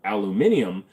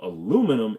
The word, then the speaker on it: aluminum: li i u m but the British wanted it to be spelled aluminium but the inventor patented it under aluminum so aluminum is actually the right way to pronounce it so hey England we